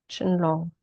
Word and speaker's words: Qinglong: For you, the name is Chinlong. This is pronounced Chinlong. Don't go by the spelling.